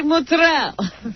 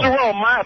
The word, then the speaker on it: mozzarella: Well, how do you say mozzarella? Mozzarella. Mozzarella. M is applesauce. It's mozzarella. Mozzarella.